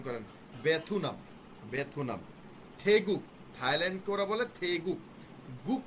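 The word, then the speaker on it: 태국: বেথুনাম এটা আছে এভাবেই, আপনারা এভাবেই উচ্চারণ করেন, বেথুনাম, বেথুনাম। থেগুক, থাইল্যান্ডকে ওরা বলে থেগুক।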